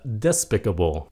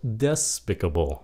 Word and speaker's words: despicable: Chữ nữa là despicable nhấn âm 1. Despicable. Mà đa số bây giờ người Mỹ phát âm là despicable nhấn âm 2.